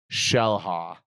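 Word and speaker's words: Xel-Há: Shellha.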